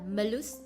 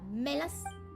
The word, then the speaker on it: Malus: Đọc là Malus chứ không phải là Melus.